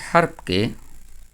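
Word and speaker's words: حرف: চেষ্টা করব যেমন আরবি হারফগুলো কিভাবে এটাকে আমরা হরফ বলবো না। আমরা বলব হারফ।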